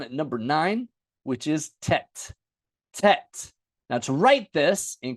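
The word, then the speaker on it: טית: we don't pronounce it I usually say tet I don't say taught but you can pronounce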